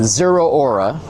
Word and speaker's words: Zeraora: Zeraora. Now we're talking. Now I know how to pronounce it. Zeraora.